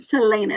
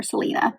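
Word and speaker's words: Celaena: of Selena um sardian Selena is how you say her name I think I was calling her Selena at one point um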